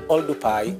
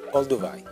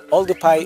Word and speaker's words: Oldupai: professor William cat Winkle mispronounce the name of the gorge and put V instead of P and that neck the